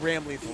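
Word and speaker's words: Ramlethal: So I'm actually- saying Ram Lethal the entire bracket. No, that's fine. That is the correct pronunciation. Mr. Daisuke told me himself. That is his vision, is Ram Lethal.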